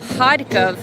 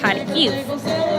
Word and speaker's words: Kharkiv: Kharkov, being the Russian pronunciation, is Kharkiv in Ukrainian.